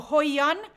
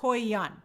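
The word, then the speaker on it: Hoyeon: so good for her oh hoyan thank you Jay King it's pronounced hoyian and I think you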